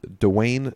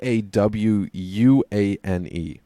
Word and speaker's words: DaWuane: So Bud Dupree there to match up with Dwayne Smoot. Josh, if you saw how Dwayne was spelled, how would you think to pronounce that?